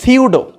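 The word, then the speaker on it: pseudo: সিউডো nucleus, উচ্চারণটা কিন্তু সিউডো, সিউডো nucleus.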